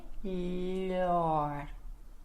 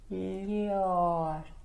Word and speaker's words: melhor: Então, melhor, melhor. Tem que raspar no céu da boca e mandar o ar para fora.